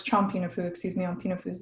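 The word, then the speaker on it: Champinefu: I'm like, it's Pinafu, or it's Chompinafu, excuse me. On Pinafu is the Kalapuya people. But Chompinafu, like I hear it mispronounced as well.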